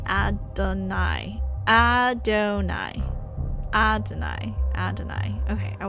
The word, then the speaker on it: Adonai: The name Sarah calls Morgan Ada is pronounced Adonai.